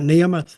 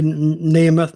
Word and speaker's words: Nemeth: saying his name right nehemoth well some pronounce it neemo some pronounce it nth I'm just sort pronouncing it how it's spelled really so either way I guess I say neth that's what I'm going